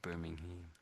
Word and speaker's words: Birmingham: So Birmingham, that's how the Americans say it. I'm overdoing a little bit there, but it's Birmingham. So just be aware of that. The it's not really ham on the end.